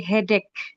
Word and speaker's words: headache: Nah, itu kita bacanya keh gitu ya, yang di belakang. Jadi, hedek.